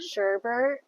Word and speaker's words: sherbet: There's no r. It's sh eb e r t. Like sherbet.